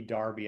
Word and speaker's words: Derby: her Kerr because I that's like asking me to pronounce Derby Darby. I'm just sorry, I can't go there.